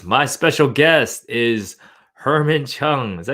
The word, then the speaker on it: Cheung: My special guest is Herman Cheung. Is that how you say it? Cheung? Yeah, Chang.